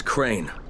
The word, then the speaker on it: Crane: no my name is crane crane crane rhymes with train and praying and sign